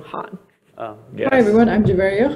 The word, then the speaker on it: Khan: And Javeria pronounces the name Han.